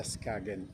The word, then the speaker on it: Skagen: Ito pala ang bigkas sa Skagen.